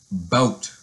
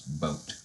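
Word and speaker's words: bateau: that was rejected is boat and it has a French spelling and is well ve a you XT but pronounce boat and the first definition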